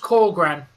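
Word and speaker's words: Källgren: Yes, he's pronounced Kallgren.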